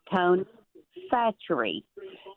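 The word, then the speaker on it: Tony Chachere's: Didn't know how to pronounce the name. It's Tony Satchery and it is good on everything.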